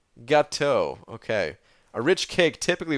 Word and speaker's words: gâteau: Gâteau. Gâteau.